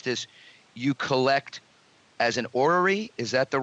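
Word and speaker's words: orrery: could correctly pronounce this you collect as an ory is that the right pronunciation I do collect ories and one of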